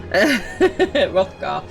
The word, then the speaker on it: Hrothgar: I'm pretty sure the H is silent. Hrothgar.